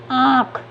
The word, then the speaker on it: आँख: नाक और मुख दोनों से होगा, तो हम इसको बोलने में हमारे दूसरा होगा ना उच्चारण। आँख कैसे पढ़ेंगे?